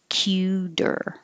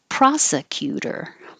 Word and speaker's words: prosecutor: syllables differentiate differentiate and prosecutor has three four syllables prosa prosecutor a lot changes there so we don't say pro we don't say se or c and we don't say t so prosecutor prosecutor one two three four